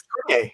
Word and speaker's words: Cormier: is Cormier. Cormier. Cormier. It's Is it? French. Excellent, excellent. I'm glad I almost pronounced it right the first time.